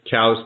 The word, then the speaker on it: Coues: turf as well absolutely coos deer cows deer however you want to pronounce it challenges is correct yeah